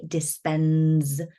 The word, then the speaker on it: Dispenza: Joe, Joe, Dispenza with a Z, Dispenza. I'm not going to spell it for you, but Dispenza. It's pretty much as it's said.